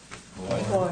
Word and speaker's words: boy: Boy. Boy. Boy. And you don't say boy, you say boy. When it's properly said, it's a two-syllable word.